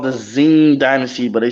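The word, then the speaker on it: Qing: the Tang Dynasty yeah it's it's called The Zing Dynasty but they spell it with a Q um yeah q-i-n-g all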